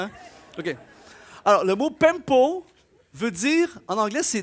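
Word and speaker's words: πέμπω: mal, mais c'est « pempo », on dirait de l'italien un peu, hein?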